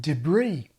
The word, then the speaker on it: debris: Then there are pronunciations that have shifted or are shifting to the American pattern, like two-syllable mayor and final stress on debris.